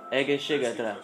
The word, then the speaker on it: Egészségedre: Egészségedre.